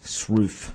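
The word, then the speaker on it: Sroufe: you go online and put in the word Shruth with McIntosh and Bowlby... That's spelled I'll just so if you want to look that up, it's spelled S-R-O-U-F-E, Shruth.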